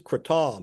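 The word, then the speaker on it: kratom: The one woman was correct in the pronunciation. It is cretam.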